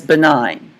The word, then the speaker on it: benign: Now, we call a tumor that is not cancerous, we call that benign. This G is silent. So non-cancer tumor is benign.